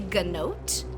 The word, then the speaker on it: gnote: uh Mount type is called a gnote it is spelled like goat but with an N after the G uh and there are